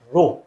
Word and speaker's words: rho: what is this row this row it is pronounced as rho r h oh it is rho so rho